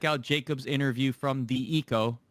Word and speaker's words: Hiko: jacob's interview from the eco not he co eco rhymes with AZ k braixen skadoodle who are